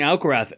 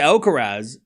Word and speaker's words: Alcaraz: So I say Alcarez and but we know who we're talking about. You know, I feel like you could say it both and it's not you can say both you can say it both ways.